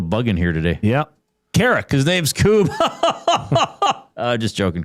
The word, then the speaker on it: Carrick: I might have said like Carrack. Carrack. But it is pronounced Carrick. Okay, I'm going to try this.